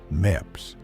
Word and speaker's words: MEPS: We drove back to MEPS, pronounced MEPS, not to decide anything, to commit.